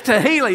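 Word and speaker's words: תְּהִלָּה: song of Thanksgiving and make sure if you talk about this this weekend with your family to say it correctly don't say now we're going toila and Uncle Jed brings the bottle out all excited y'all know what I'm talking about Okay this not tequila it's tahila yeah we had a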